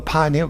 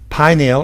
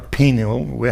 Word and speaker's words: pineal: are all in the pineal or penile however you want to pronounce it both ways are correct actually i prefer pineal uh goes off and